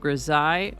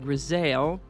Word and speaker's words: grisaille: today's word is gai it can be pronounced gai or Zale it's a noun that